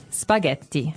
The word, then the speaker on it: spaghetti: and what about spaghetti spaghetti spaghetti oh you pronounce the Double T as well that's right okay so